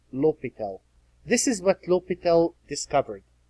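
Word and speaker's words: L'Hôpital: really need the famous l'hopital's rule it looks like Hospital it's pronounced l'hopital this is what l'hopital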